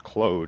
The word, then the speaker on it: Claude: with CLA I don't it's Claude AI I've heard it pronounced as Cloe as well um AI projects